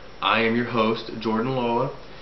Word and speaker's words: Loa: I am your host, Jordan Loa. Loa, pronounced Lo-a, spelled L-O-A.